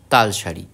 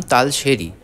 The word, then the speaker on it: তালশাড়ি: গন্তব্যের উদ্দেশ্যে এরপর গন্তব্য তালশাড়ি আমি জানতাম না এই জায়গাটির নাম তালশাড়ি আমি জানতাম জায়গাটির নাম তালশেরি তাই উচ্চারণে ভুলের জন্য আমি আপনাদের কাছে ক্ষমাপ্রার্থী তালের শাড়ি অর্থাৎ তালের